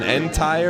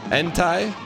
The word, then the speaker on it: Entei: Yeah, it's called an Entei or something. Entei.